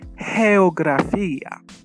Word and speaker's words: geografía: And notice pronunciation, geografía. Why? Because when G comes before an I or an E, it is soft, pronounced ha.